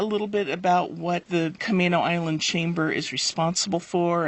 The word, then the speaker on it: Camano: A M A N O, but it is pronounced Kamo with a long A. So, I want to make sure everybody knows that. Can you tell me a little bit about what the Kamino Island Chamber is responsible for and how our